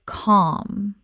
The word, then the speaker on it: calm: In the word calm, the L is often silent or very soft in many English dialects. It sounds more like calm.